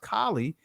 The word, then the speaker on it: Kali: Remember, Beyonce had a video out where she had Kali spelled with an E at the end, but it's still pronounced Kali.